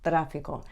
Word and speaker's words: tráfico: The Spanish T is pronounced with your tongue just behind your top teeth. So rather than talent, it's talento. Or rather than traffic, it's tráfico.